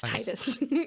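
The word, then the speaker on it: Tidus: this battle with me if somebody truly said that something was pronounced titus and it didn't spell it as t does no no it doesn't count it was t-i-d-u-s right yeah then yeah it's titus excellent thank you let's get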